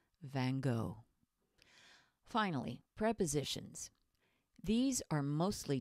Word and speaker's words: Van Gogh: love Van Gogh and yes that's how we say his name in American English Van Gogh finally prepositions these are